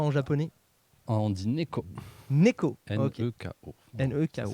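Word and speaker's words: 猫: Neko. Ok. N-E-K-O. N-E-K-O. Ça s'écrit.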